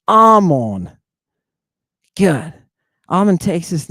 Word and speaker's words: Ammon: It has two muse in it. Alpha mu mu omega new. Amon. And that's how you say it. It's not Hmon. It's Armon.